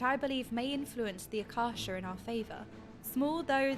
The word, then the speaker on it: Akasa: They call it Akasha, right? Not Akasa, however it's spelled.